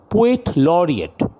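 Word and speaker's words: Poet Laureate: অর্থাৎ ইংল্যান্ডে, উচ্চারণটা লক্ষ্য করো, পোয়েট লরিয়েট।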